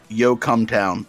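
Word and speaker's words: Yocumtown: a town in pennsylvania it's literally called yo come town and it's spelled y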